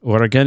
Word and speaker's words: Oregon: Oregon is what we say. Say Oregon. Pronounce it properly.